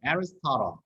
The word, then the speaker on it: Aristotle: Aristotle. 보통 우리가 아리스토텔레스라는 게 발음이 따라해보세요. Aristotle. 참 발음이 많이 달라요.